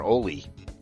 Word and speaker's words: Ali: uh the accessible Ali am I pronouncing that correct Ali or Olie it's Ali yeah it's a it's